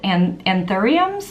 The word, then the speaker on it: anthurium: This one is not made out of meat, it is made out of flowers, and specifically, they're called anthuriums, I believe is the pronunciation, and it's a headpiece and a dress,